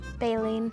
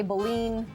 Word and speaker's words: baleen: Okay, so this is, we looked up the dictionary, we've got two different ways to pronounce it. You say, Baleen. I say baleen, and it is the